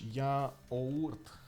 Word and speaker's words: yaourt: Yaourt. Yaourt. Yaourt. Ah, okay. Can you imagine? I have been pronouncing it strangely from the beginning.